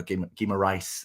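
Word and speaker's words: Guimarães: But no Dan Burn in the starting 11 and no Bruno Guimaraes, as I'm told it's pronounced.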